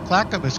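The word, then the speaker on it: Clackamas: from a resident so she got clack ofis County correct that's the pronunciation there but she said willit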